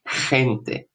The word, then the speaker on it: gente: In Spanish it's J sound as G before I, E, Y. I think we can see this word, but I don't know. No. Okay. Like gente.